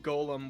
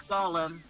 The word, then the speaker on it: Gollum: Donald Duck's voice is just Golem with an angrier attitude. Golem, someone's gonna get mad anyway. It's Gollum. It's Gollum.